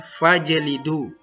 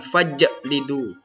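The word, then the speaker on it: فاجلدوا: Jadi membacanya fajlidu, jangan fajlidu. Nah, itu kubra. Kalau sughra fajlidu. Karena huruf jim berharakat sukun. Jimnya berharakat mati, maksudnya sukun itu.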